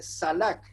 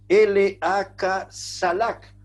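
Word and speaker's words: שלח: Ahora, a mí me llamó es la palabra hebrea que se escribe salak, S-H-A-L-A-K, salak.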